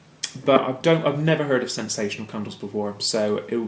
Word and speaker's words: Scentsational: I'm sure it's supposed to be pronounced sensational, but just so you can differentiate, it's Scentsational Fearless, which I'm assuming is kind of a man candle type.